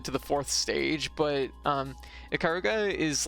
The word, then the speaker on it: Ikaruga: Ikaruga.